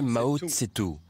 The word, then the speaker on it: Mao Zedong: Mao Zedong. On peut aussi le prononcer Mao Tse-tung.